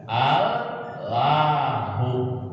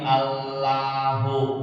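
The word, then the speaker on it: الله: Maka bacanya enggak lagi Allahu, tapi karena ditafkhim maka bacanya Allahu.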